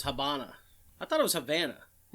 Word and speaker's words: Habana: It says Habana. I thought it was Havana. Well, it's like Havana. Brazil and Brazil. It just has a different Habana pronunciation.